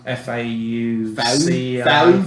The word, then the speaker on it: Fauci: Fauci. Fauci. No, I like... That guy looks like a rat. No, I like Fauci. Yeah. You gotta throw your lower jaw out when you say his name.